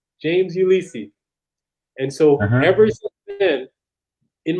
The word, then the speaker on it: Ulysse: port-au-prince my teacher said my name said james ulisi and so every sin in my brain in my brain name is pronounced ulysses so it's an american that was